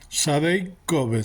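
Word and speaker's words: Sede Kobes: En hebreo es en el estanque, en el canal del estanque de arriba, en el camino de Sadek Cavas, Sadek Koves se pronuncia, campo de lavado significa.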